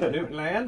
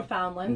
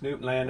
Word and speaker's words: Newfoundland: Newfoundland, as we already discovered, is how you pronounce it. Not Newfoundland. No, it's Newfoundland, area.